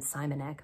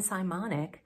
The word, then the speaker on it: Simonic: podcast well Jen simonic I called her Jen simonec but she emailed me and she said rhymes with harmonic so Jen simonic who is one of